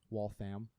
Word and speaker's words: Waltham: for a one bed in Waltham. I'm glad you say it correctly now. Waltham.